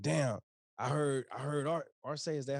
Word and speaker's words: R-Say: be like well damn i heard i heard art or say is that how you say it yeah okay